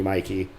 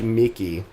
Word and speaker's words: Mikey: Old friends and super close family call me Mikey. But online I go by. Not like Mickey.